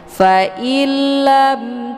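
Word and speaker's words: فَإِن لَّمْ: Failam di sini ada nun sukun jumpa huruf lam. Ini merupakan hukum bacaan idgham bila ghunah. Jadi dibacanya tidak berdengung. Langsung hamzahnya dileburkan ataupun dimasukkan ke dalam huruf lam dengan cara ditekan tidak perlu ditahan. Faillam. Jadi langsung berbentuk tasdid.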